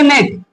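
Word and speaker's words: gnat: यानी कि जी के जस्ट बाद एन रहेगा ना तो उसमें जो जी होता है जी को हम क्या कर देंगे साइलेंट कर देंगे जैसे मैं देखूं जी एन ए टी ठीक है जी एन ए टी इसको बोलेंगे नेट क्या बोलेंगे नेट मतलब क्या होता है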